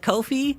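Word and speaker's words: Ko-fi: a a a Kofi Kofi is the correct way to say it Kofi I got bullied in the comments section for not saying Kofi right and here it is Kofi it's called Kofi you can't argue with me cuz that's how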